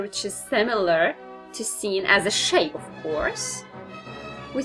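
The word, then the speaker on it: سين: is like this then we have seen seen is like an else in English so it is and this is the shape of C then we have a letter which is similar to seen as a shape horse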